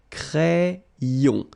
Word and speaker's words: crayon: Crayon. Un crayon à lèvres. Un rouge à lèvres. Same thing here, final S not pronounced, and then this E accent grave here, it gives you the really open sound.